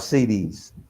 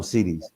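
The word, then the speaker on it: cedis: okay so the money the money in ghana is called cds so it's like it's spelled c-e-d-i-s they call them cds so the exchange rate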